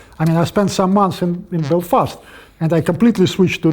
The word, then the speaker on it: Belfast: Not Belfast, by the way, Belfast.